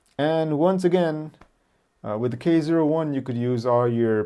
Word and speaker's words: K-01: This was the Pentax K01. And you have to pronounce the 0. You know, people get mad if you don't say K01.